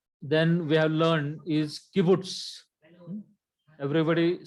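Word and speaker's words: קִבּוּץ: So it gives the pronunciation Okla. Then we have learned is kibbutz.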